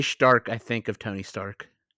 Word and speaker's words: Stark: spelled Stark like Tony Stark s t a r k but most of the time it it sounds like they pronounce it s h t a r k Stark so I don't